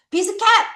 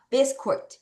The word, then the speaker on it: biscuit: 비스켓! No, no, no, no. biscuit.